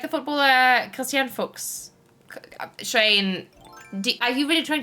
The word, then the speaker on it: Fuchs: If they are German, that's how you pronounce it. You pronounce it as Fuchs.